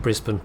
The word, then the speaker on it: Brisbane: But I was going to do a whole bit where I called it the Brisbane. And instead I've just been pronouncing it Brisbane the correct way the entire time.